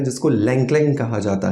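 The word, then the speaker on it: ylang-ylang: दोस्तों लंगलंग aroma oil अब ये जो लंगलंग अरोमा ऑयल है ना इसमें वाय जो होता है वो साइलेंट होता है क्योंकि बहुत सारे लोग इसको यलांग यलांग पढ़ने वाले हैं ऐसा नहीं है ये एक चाइनीज हर्ब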